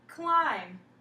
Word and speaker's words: climb: Like in the word climb. That B is silent, and then there's the B.